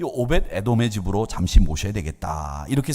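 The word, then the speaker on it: 오벧에돔: 그러니까 오벳이라고 하는 발음에다가 에돔이라고 하는 말이 합쳐졌기 때문에 저는 이 오벳 에돔을 이게 발음이 정확하지 않으니까 오벳 에돔 이렇게 발음을 해봐요.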